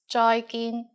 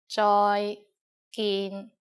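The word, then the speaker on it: 再見: just like the English bye-bye with a Cantonese pronunciation bye bye and in formal situations use joyin Joy gin joyin means goodbye finally in canones we have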